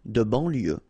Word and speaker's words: banlieue: Okay, final E not pronounced, so IEU, IE, L, lieu, banlieue. De banlieue.